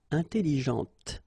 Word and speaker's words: intelligente: And then, well, it could be also in that case with an adjective, okay, intelligente, Same thing here. When you put this well, actually, you will pronounce the final T, okay, but you don't pronounce this here.